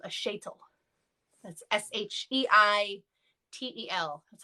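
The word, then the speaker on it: sheitel: wig the wig in yiddish is called a shaytal that's s-h-e-i-t-e-l that's how i would spell it schaetel um so some places just allow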